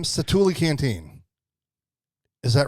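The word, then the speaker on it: Satu'li: i think i'm not gonna murder the name cetuli canteen is that right yes that's how you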